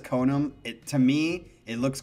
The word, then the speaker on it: Konom: me thank you i it looks like ka nam but it's ko num konam not sure how it's pronounced but to be honest i say konam okay he says konam it to me it